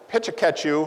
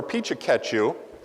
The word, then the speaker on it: Pecha Kucha: Well, I pronounce it Pecha Kucha or Pecha Kucha. The Japanese, it is Japanese for chit-chat, and there are some that master the Japanese tongue a little bit better, and they're able to say it in like 3 syllables, Pichka or Pichaka, or you can just shorten it to PK.